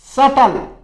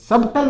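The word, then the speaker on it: subtle: फिर देखो सटल, हल्का या रहस्यपूर्ण, इसमें बी साइलेंट रहता है, सबटल नहीं बोलोगे आप, सटल बोलोगे, सटल हल्का या रहस्यपूर्ण, ध्यान रखें।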